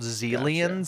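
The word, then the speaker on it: Xilians: a lore thing but they're called zelans spelled with an X cool I guess they could be called exelans exelans like like Microsoft Exel like Microsoft Excel or it's probably pronounced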